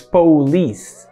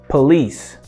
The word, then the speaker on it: police: All right, the second example is interesting because a lot of people think that the pronunciation of this word is police, police, but it's not. It's actually police, police, police.